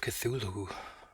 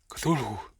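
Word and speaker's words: Cthulhu: last one from there call of cthulu I would say that's the way to pronounce it right cthulu right um by HP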